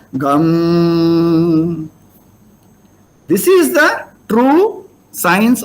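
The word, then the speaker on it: गं: So in the Sandhi, these 2.5 syllables should be pronounced as Gam.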